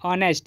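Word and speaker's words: honest: क्या है ऑनेस्ट बॉय इसका पहला लेटर क्या है एच है और एच बोलने से कंसोनेंट लेटर है लेकिन जब हम इसका साउंड देखेंगे तो इसका उच्चारण जो है इसको क्या पढ़ते हैं ऑनेस्ट यानी कि अ हो रहा है तो अ बोलने से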